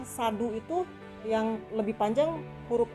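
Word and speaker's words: sādhu: Kalau berdasarkan penulisan Pali dan membacanya, maka A-nya A panjang. Jadi sadu, sadu. Tapi kadang-kadang di telinga kita nggak enak. U-nya terlalu ditekankan. Jadi orang bilang sadu, sadu. Mungkin lebih enak didengar.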